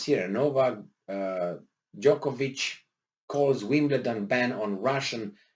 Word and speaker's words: Djokovic: here, and that is Novak Djokovic or Dajkovic, or however these guys want to pronounce it. I heard it both ways, and probably I would say Djokovic.